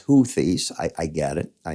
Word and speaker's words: Houthis: you all right me I call it hoies but it's huies I I get it